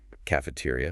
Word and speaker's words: cafeteria: Yes, the stress is on the t sound. Cafeteria.